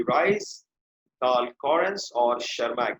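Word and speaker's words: Tschermak: एक तो Hugo de rice, Hugo de rice, Karl Correns और शर्मा। ये 3 साइंटिस्ट थे। टी साइलेंट है बेटा इसमें, टी is silent, okay, T is silent and शर्मा।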